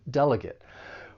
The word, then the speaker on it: delegate: This verb has three syllables. The stress is on that first syllable. Delegate. Now, don't confuse this with the noun because that third syllable is pronounced differently when you say the noun delegate. With the verb, you're going to use that long a sound delegate.